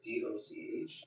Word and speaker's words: doch: And that word is DOCH, and it's pronounced dog, which means like no, you're effing wrong.